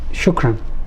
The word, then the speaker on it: shukran: Thank you, it means shukran.